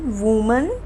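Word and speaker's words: women: Next is वन वूमन, many विमेन।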